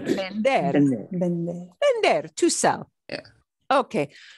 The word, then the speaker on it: vender: And we pronounce the V like a be, be, be, be, right? Vender.